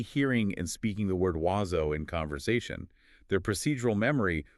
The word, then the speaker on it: oiseau: their English-trained brain immediately tries to decode those letters using English phonetic rules. And they end up pronouncing it oico.